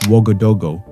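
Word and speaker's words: Ouagadougou: Welcome to Wagadugu, the bustling capital whose very name is a welcome mat. In the local Murray dialect, it's pronounced Wagodogo, literally meaning you are welcome here at home with us.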